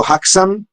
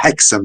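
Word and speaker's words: Häxan: Poi sì, a fine mese dalle parti mie, il 31 ottobre, ci sarà sempre un altro film muto, Haxan, è un film, forse Hexam si dovrebbe pronunciare, un film muto svedese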